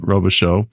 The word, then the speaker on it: Robichaud: As I know it's, um, like a French pronunciation, Robisho.